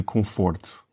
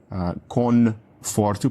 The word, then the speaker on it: conforto: O N, tu dizes o N ou é como se fosse um M? Um som nasal? É como se fosse um M. Então acho que um espanhol ou um falante de inglês diria conforto, porque nós vimos aquele N, mas é um som nasal, como se fosse um M em português, não é?